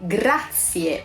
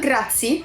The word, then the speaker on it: grazie: to say thank you we say gracias no grazie I know that everyone